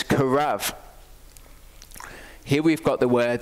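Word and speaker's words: קרב: And a beit can be pronounced with a B or a V sound. Here it's a V sound, and it's karav.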